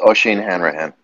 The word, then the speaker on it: Oisin Hanrahan: Oisin Hanrahan. Thank you. I have a name like that. Everybody pronounces it one way for the last name, and it's not pronounced the way everyone thinks.